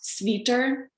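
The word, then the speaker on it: свитер: same origin would be sweater which in russian it's pronounced sveter and automobile which in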